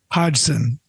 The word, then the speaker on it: Hodgson: Hodgson. Hodgson? Hodgson.